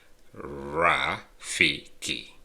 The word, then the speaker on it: Rafiki: uh like the monkey in Lion King is pronounced raiki and that means friend now let's go ahead